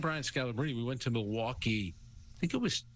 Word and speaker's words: Milwaukee: So, and you know better than anybody then that it's pronounced Milwaukee, which is Algonquin for the good land.